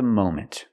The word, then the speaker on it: moment: moment at the moment we cannot use a short a sound like hot and stop and Mom we need the long o sound like no and go and phone Mo moment at the moment right now at the